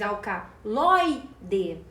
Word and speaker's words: alcaloide: recebe assento e alcaloide alcaloide é uma paroxítona porque a penúltima sílaba é tônica nós falamos alcaloide perceba que o lói é a sílaba tônica e termina em e